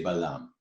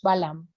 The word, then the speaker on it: Balaam: In Hebrew, we say Balaam. Entonces, ¿quién era este hombre? Y en hebreo le decimos Balaam. Is that how do you say it in Spanish? En Spanish we say Balaam. En español también lo Perfect. decimos Balaam. We have a very bad way of saying it in English.